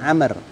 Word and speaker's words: Amr: lebih riwayat Hai membeli Hai binaunggul to download Amer Amer eh anak Abdillah ibunya Amel Hai Dian Oh ya bacanya Amr judulnya hooney mengetahui Hai terburuk afrogie afrogie Hai